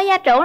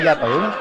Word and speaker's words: gia trưởng: Bạn ơi, bạn có gia trưởng lắm không? Mình không gia trưởng không? Gia trưởng chứ không phải gia tưởng.